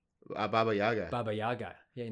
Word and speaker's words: Baba Yaga: You're going to be like, what's John Wick's name? Boogie Yaga? No. Baba Yaga.